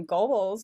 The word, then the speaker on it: Goebbels: they decide in 1941 the Nazi regime so Goebbels, did I say that right? You know, Joseph Goebbels was the propaganda minister. Sure, Goebbels. Goebbels, yeah. I I often mispronounce names and Because because you read them.